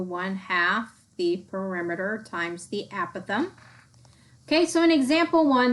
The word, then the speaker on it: apothem: look at that the a is equal to apothem yes that's the pronunciation apothem the length from the center of